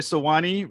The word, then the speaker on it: Sewanee: Well, I read that you actually worked with Diane Johnson during the 2013, am I going to say it right, Sewanee Writers Conference?